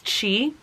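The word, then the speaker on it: qi: and they're powered by it's spelled q-i and i think it's chi which is like life force but it's not just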